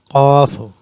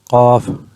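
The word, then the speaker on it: ق: Qaf, it is pronounced at the inner throat. Qaf, Kaf, lightly spoken at the tip of the tongue.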